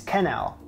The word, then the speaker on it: quenelle: to make sure and I was surprised it's canal canal I guess you don't go you go Ka proper pronunciation is Canal there you have it there